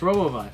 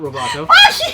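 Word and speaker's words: Robobot: 10 roboot roboot roboot yes roboot not Roboto you screwed it up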